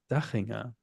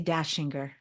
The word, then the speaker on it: Dahinger: How would you pronounce your name? Well, you know, it is Dahinger. And Yes. uh people here say Dashinger.